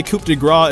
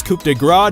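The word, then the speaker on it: coup de grâce: lot of people say Coup de Grace is actually better. By the way, that's how it's pronounced. It's Coup de Grace, not Coup de Grace.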